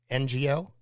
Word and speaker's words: Ngo: Well, Andy, I guess his last name's pronounced NGO. Bingo was his name.